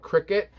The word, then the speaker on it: Criquet: The brand's called Cricket, and it's spelled different than what you would think it's spelled. Criquet.